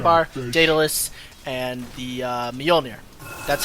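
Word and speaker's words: Mjollnir: is monkey king bar dataless and the uh Meir that's how it's pronounced by the way grant grant um so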